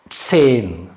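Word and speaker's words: zehn: இங்கே மாதிரி இட்செட் இட்ஸ் சேன் சேன் இட்செட் சேன் இங்க வந்து ஏ அந்த ஹா இருக்கு ஹச் இருக்கு ஆனா வந்து உச்சரிக்க கூடாது ஏன் ஏன் உச்சரிக்க கூடாதுன்னா இதுக்கு முன்னாடி வவ்வல் இருந்துச்சுன்னா அந்த வவ்வல் நெடில் மாதிரி சொல்லணும் ஹா இருந்துச்சுன்னா அதுக்கு முன்னாடி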